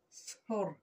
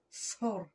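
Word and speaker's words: سحور: Sahur. Très bien, répète. Sahur. En fait, ça se prononce comme s'il y a un AU, Hur, et ça s'écrit OU, Sahur. Ça se prononce Sahur.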